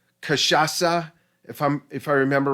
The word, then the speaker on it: cachaça: Um, uh, uh, it's actually pronounced cachaça, if I remember right. That it's a Brazilian C, and that Yeah. if I remember right, that's the S sound.